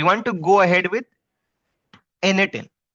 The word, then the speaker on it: n8n: Let's say we want to go ahead with NAN. Okay, N8N. That's how we pronunciate this.